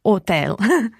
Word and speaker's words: hotel: albergo but just watch with hotel in italian you don't have to pronounce the h so it's hotel hotel so let's think